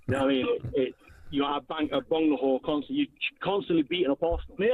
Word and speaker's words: Agbonlahor: Agbonlahor. Agbonlahor.